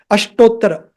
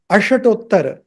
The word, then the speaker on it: Ashtottara: Ashtottara. It just touches that sound. Ashtottara. So it would be wrong if you pronounced this as Ashatottara. Don't say Ashatottara. Ashtottara. Not Ashatottara. Ashtottara.